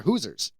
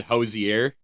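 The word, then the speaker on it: Hoosier: Indiana, it actually is like Hoosers. I was completely off. I think I said Hosier.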